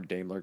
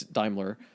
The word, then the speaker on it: Daimler: however you pronounce it I think in the states it's more damler cuz when they say damler Chrysler but it's Daimler this guy is kind